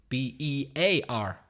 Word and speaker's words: bear: Pronounced exactly the same as B-E-A-R. Bear. Exactly the same. Same pronunciation.